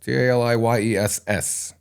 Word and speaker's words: Tali Yess: And everywhere else, I'm just Taliyes, Taliyess. Second S is silent. The second, unless you have a lisp.